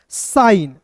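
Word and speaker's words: sign: एस आई जी एन को पढ़ेंगे दोस्तों साइन।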